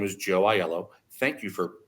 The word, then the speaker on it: Aiello: when someone says hello my name is Joe iello thank you for pronouncing it correctly by the way Rebecca and